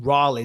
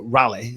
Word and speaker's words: Raleigh: I flew from North Carolina, Raleigh, as you guys say, but Raleigh, Sir Walter Raleigh is how you say it.